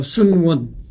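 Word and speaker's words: 孫文: 대한민국 어 중화민국 중화민국 초대 임시 대총통 어 순원 보세요. 한자는 선문이잖아요. 선문 근데 그 중국 발음으로선 순원이라고 이렇게 얘기한 거죠.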